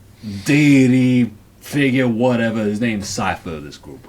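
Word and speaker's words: Psyfer: P-S-Y-F-E-R. So he's a psyker. Cypher. Cypher. Cypher.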